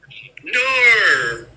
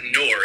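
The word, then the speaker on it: Knorr: Nor. That's all I heard when I was dating this one Australian girl. She's like, nor. I'm like, it's not nor, it's no.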